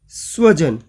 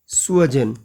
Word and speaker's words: स्वजन: है प्रिय व्यक्ति और हम यहां उच्चारण बिगाड़ देते हैं इसका खराब कर देते हैं उच्चारण को और हम बना देते हैं इसको स्वजन स दंते सकार की जगह हम तालव्य श बोल दें तो गड़बड़ हो जाएगी जिसका अर्थ होता है कुत्ता।